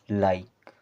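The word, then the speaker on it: like: के ई इसे पढ़ेंगे लाइक बी आई टी ई इसे पढ़ना है बाइट इस प्रकार से अगर आई और ई आ र है तो उनका उच्चारण आपको करना है आई की तरह यह हो गया हमारा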